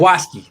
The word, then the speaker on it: Jaquiski: I've always liked Jaquiski. That's how he pronounces it, correct? Jaquiski. Yeah, great name. Jaquiski.